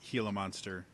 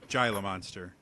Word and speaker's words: Gila monster: a desert is and can pronounce Gila monster the correct way not Jayla monster sorry I was born